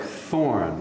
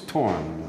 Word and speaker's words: Thorn: is it sounds like thorn it would be pronounced like thorn in English but it's torn right as the origin